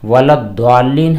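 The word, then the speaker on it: وَلَا الضَّالِّينَ: جی یہاں پر 2 چیزیں ہیں، ولضالین DWA اور دوسری صورت ہے ZWA، تو یہاں پر ولضالین جس کے اندر دال کا تلفظ ظاہر ہوتا ہے، ولضالین اس طرح پڑھنا جائز نہیں ہے، ولضالین یہاں پر ضاد ہوتا ہے، ضاد کے ساتھ ولضالین ہوتا ہے۔ اگلا سوال ایک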